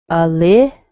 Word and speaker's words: Olivia: You can hear a little E on that I towards the end, but it's still considered an unstressed syllable, an unstressed vowel. Olivia. Yeah, does that surprise you? It looks like it should be O, doesn't it? But it sounds like a schwa.